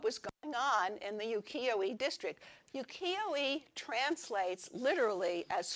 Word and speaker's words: ukiyo-e: And this whole area was called ukiyo-e. And you pronounced it, my Japanese language person here can say it in Japanese. Ukiyo-e.